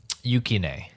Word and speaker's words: Yukine: Yes, when she saves basically Yato's life, because the third character, Yukinin, how do I pronounce his name again? Yukine.